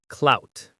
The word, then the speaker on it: clout: It's one syllable and the OU sounds like ow. Clout. C-L-O-U-T. It rhymes with shout or about.